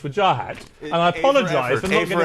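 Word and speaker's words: Wajahat: it and you told me how your mother pronounces it we finally got there after a year of vajah hat and wajah hat it's with Jah hat and I apologize right A for effort so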